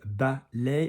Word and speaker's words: ballet: Good, the word is ballet, and obviously we don't pronounce the T like we don't in English.